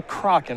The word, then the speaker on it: Kraken: Or the Kraken, right? We can say it either way. Kraken is actually... Yes, so we had... The ongoing joke that I kept saying it that way but actually is an accepted pronunciation.